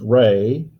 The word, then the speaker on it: Ra: That means they worshipped many gods, but as you heard on several of the films, one of the primary gods was Ra, the god of the sun, or often pronounced Ray, which is also the central character of the last 3 Star Wars films.